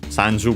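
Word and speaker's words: 三十: we have sanu 30 the Chinese pronunciation coin Of course, coin from English sanju by the way we have seen it before. It is accented on the first syllable coin is accented also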